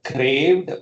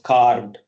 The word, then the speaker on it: carved: And I heard craved, wherein the word was carved.